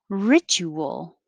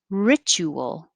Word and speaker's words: ritual: back to row four ritual the t and the u and then well t u a here make a chew ritual jinx it's just a